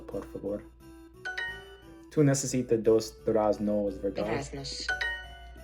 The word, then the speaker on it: durazno: I'm used to learning Russian where when there's like a O sound at the end of a word, it's often an A. So I'm saying durazna instead of durazno just because I'm kind of used to that in Russian.